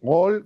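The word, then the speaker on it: עול: Ol en hebreo quiere decir, lo debería pronunciar más tipo sefaradí, Ol con la gutural, quiere decir el yugo.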